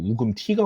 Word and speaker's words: 우금치: 공주 근처에 우금치라는 지역이 있습니다. 뭐 원어 발음으로 치면 우금티가 맞다고도 하는데 책 따라가겠습니다.